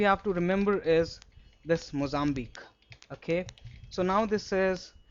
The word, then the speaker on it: Mozambique: This q u e is always pronounced as c the pitch rusk.